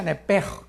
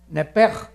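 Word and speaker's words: נפש: Se pronuncia nepej, porque la CH en hebreo es j, nepej, y la palabra espíritu es ruach, se escribe ruach.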